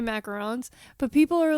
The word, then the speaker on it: macaron: Well, you want to say macaroons like an idiot? Since you learned, say it like a fucking hillbilly. Macaroons are a different kind of cookie, a different kind of pastry.